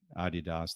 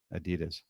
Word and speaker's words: Adidas: way I'm very proud of you for actually pronouncing Adidas the way it should be pronounced not Adidas I was actually a quick story on that